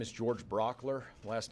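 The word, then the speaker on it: Brauchler: turn it over quickly to district attorney George Brock ler and then and he'll turn it over to the governor and then we'll answer a few questions Georgia good morning my name is George Brock ler last name is spelled BR au CHL er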